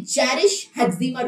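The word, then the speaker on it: Jarisch-Herxheimer: Pronounce it clearly. It is Jarisch-Hexema.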